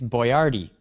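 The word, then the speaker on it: Boyardee: who Chef boardi yes that's approximately how you pronounce it okay it's it's boardy oh it was like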